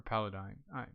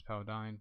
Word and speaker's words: Paladine: I always just said Paladin. I know it's not. It's Paladine, but It's one of those things I grew up with, and I pronounced it wrong in my head for the longest time.